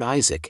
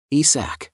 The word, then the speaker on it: Isac: often call him Lord Isaac instead of his real name ISAC it occurred to him that this was a mispronunciation of his name and when the gods